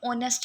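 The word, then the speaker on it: honest: बचपन में सुना था साइलेंट लेटर में हमें ऑनेस्ट बताया जाता था पर मी मैं इसको बहुत ही ज्यादा ना अजीब समझती थी की हा को क्यों साइलेंट कर दिया जाता है सो मेरे लिए वो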